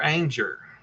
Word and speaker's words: Anger: River Anger rhymes with danger.